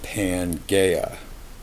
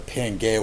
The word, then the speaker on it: Pangaea: He published a hypothesis which is basically called Pangaea, and that is spelled P-A-N-G-A-E-A.